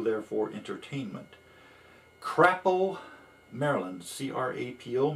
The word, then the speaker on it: Crapo: C-R-A-P-O. Maybe it's pronounced Crapo, but I prefer Crapo.